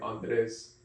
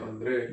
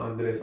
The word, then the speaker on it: Andre: But people call me like Andres in Spanish, and I'll have to correct them. No, mi nombre se pronuncia Andre. Like it's pronounced Andre. Like my name's Andre. That's not Andres.